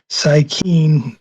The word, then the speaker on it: Psykeen: Instagram account under a different name, which is Psykeen, which is spelled Cyyykeen, and there's some digital art up there.